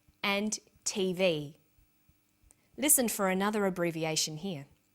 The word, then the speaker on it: TV: Notice that each letter in the abbreviation is pronounced separately, but the last letter is pronounced more strongly because it carries the primary stress.